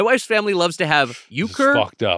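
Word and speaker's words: euchre: Uh Uker.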